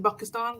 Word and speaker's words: Pakistan: moving can we just can we pronounce pakistan properly please it's actually pakistan so we could just pakistan pakistan pakistan pakistan listen pakistani yeah